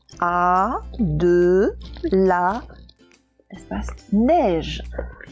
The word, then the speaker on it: neige: Alors neige, il y a le son est, on entend le son est, mais c'est un est qui s'écrit avec 2 lettres. C'est le est de baleine, le est de neige, le est de... Oh, qu'est-ce qu'il y avait d'autre? De reine, voilà.